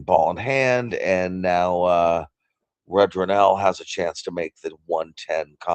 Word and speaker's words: Rudranil: I just Googled how to pronounce his name. Actually, my wife did. Thank you, wife. RUDRANIL.